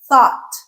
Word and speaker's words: thought: it is pronounced a thought. Thought bought. They're all going to rhyme with caught, like I caught the ball.